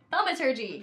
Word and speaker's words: thaumaturgy: Thaumaturgy.